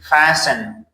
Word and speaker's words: fasten: The next one is fasten. S-T-N. T is silent.